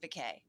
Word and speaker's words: Becquet: It's pronounced Becquet. Becquet. I love it. Sounds French.